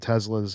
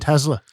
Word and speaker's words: Tesla: the stock market and Teslas and watches and alcohol and whatever else that Tesla Tesla I just said that to annoy you by the way it is pronounced with an S thank you B I'm